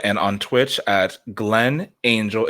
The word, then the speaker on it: Ángel: So you can find me on YouTube and on Twitch at Glenn Ángel. It's spelled Angel, but I prefer the pronunciation Spanish, Glenn Ángel.